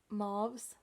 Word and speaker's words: mauve: I've always said mauves, making mauves, and I'm like, that's weird. So you say it mauve, making mauves makes more sense because it's supposed to be like making moves.